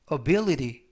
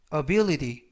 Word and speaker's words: ability: 표현이 되겠습니다 2번 표현은 ability ability ability라고 발음하시면 되겠고요 이때 알파벳는 부드럽게 트가 아니라 드 발음에 가깝습니다 그래서 ability 보다는 ability라고